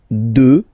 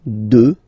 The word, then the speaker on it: deux: Deux. Final x not pronounced, okay? Deux.